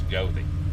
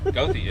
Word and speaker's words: Goethe: hunting spell g-o-e-t-a-g um the way that they described it was say it southern uh not german it's a german name from german heritage uh and so but they said they pronounce it down here with southern so it's gothi go through y'all yeah